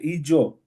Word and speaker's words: Ijo: And like you were talking about, you said Ijo. Am I saying it right? Yeah.